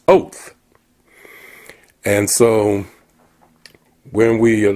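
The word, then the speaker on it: אות: And in the Hebrew it means or the in Hebrew the word is pronounced oath.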